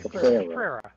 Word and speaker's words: Cabrera: How do you pronounce his last name? Caprera. With a All right. Caprera.